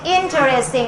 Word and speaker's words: interesting: Millican interesting interesting you have to step in the first syllable okay interesting again this interesting and